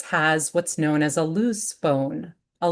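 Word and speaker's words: luz: each of us has what's known as a loose bone. A loose bone located along the spine. In English, it's spelled l u z, meaning nut or almond or hazel.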